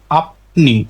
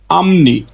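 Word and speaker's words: 앞니: এটা স্বাভাবিক উচ্চারণ হতো আপনি আপনি কিন্তু রুলস অনুযায়ী ফিউ পাইছি বাচছি ফিউপের পরে নিউন তাহলে ফিউপের উচ্চারণটা হয়ে যাবে মিউ তাহলে সঠিক উচ্চারণ হবে আমনি আমনি আমনি মানে সামনের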